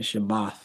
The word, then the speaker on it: Shabbat: and devote men 144 correct that Shabbat the shabbath the say Sabbath in the Hebrew is shabbath